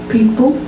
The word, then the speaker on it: people: that I have people people I say people does that sound different to you I'm stressing the first syllable and reducing the second of their people not people who said everything we